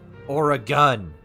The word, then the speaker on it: Oregon: that pronounced or that pronounce oregon as like oregon or oregon and it's like no you say it right or a gun sweet jesus christ oh